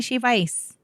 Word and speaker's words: shave ice: Why do you say shaved with the ED? Like past tense shaved. Because it is shaved. But we don't say it like that. We say shave ice.